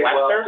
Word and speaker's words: Leicestershire: I'm here and Which they never pronounce. It'll be spelled Leicestershire and they're like Leicester.